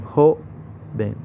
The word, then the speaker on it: joven: O en joven, donde recae en la sílaba jo.